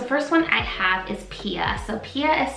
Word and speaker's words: Pia: Okay, so these first 2 names I'm gonna be sharing with you remind me of the name Mia. The first one I have is Pia.